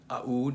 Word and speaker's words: Aoud: now i pronounce the aoud the a in aoud some people just say ud but i think this is the more middle eastern appropriate way of saying it so before we get